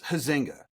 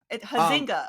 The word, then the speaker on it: Huizenga: Huinga. Is that the correct pronunciation, Jason? Yes. Hazinga. Hazinga. It rhymes with buzzinga.